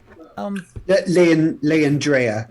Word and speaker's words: Leandrea: I see that the name here is on the list, and there is a plot for this person, Leandra. Is that how you say it? Leandrea.